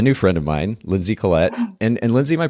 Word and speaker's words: Collette: with a brand new friend of mine Lindsey Collette and and Lindsey my pronouncing your last name correctly there I just kind of assumed great I'm surprisingly like people really get hung up on it I get Coletti all the time I mean I thought it